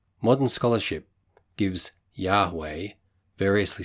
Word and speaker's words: Yahweh: Modern scholarship gives Yahweh, variously spelled Jahve, Jahveh, Yahweh, etc., as the correct pronunciation.